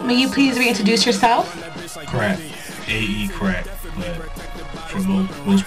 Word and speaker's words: Crakk: today and uh may you please reintroduce yourself crack AE crack but for most part everybody know